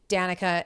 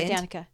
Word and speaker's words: Danica: the growth it wasen it's not Dan oh yeah yeah it is Danica and brce you said oh my gosh I said it wrong you said Dan you